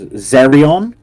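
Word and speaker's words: Xerrion: There was Zerion, spelled with an X, X-E-R-R-I-O-N.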